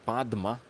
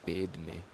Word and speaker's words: Padma: lotus pose you know so it's pronounced as padma in in Sanskrit in Indian but in in Tibetan some sometimes I think they pronounce paid me.